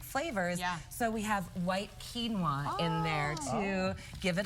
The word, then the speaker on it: quinoa: So quinoa is usually like in the grain section. It's spelled Quinoa. Remember, people always like, how do you pronounce this?